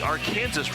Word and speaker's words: Arkansas: They call it the Ar Kansas River, even though it's spelled like Arkansas.